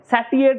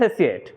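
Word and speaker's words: satiate: স্যাসিয়েট কথার অর্থ কি, স্যাসিয়েট কথার অর্থ হচ্ছে স্যাটিয়েট নয় কিন্তু উচ্চারণটা, হ্যাঁ স্যাসিয়েট।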